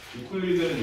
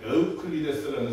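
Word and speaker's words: Euclid: 유클리드는 사람 이름인데 정확히는 유클리드가 아니야. 유클리드는 영어식 이름이야. 윤소리 이름을 우리가 윤솔 킴 이렇게 부르지 않잖아. 윤솔이라고 부르지, 그치? 네. 유클리드는 에우클리데스라는 사람 이름을 영어식으로 발음한 거야.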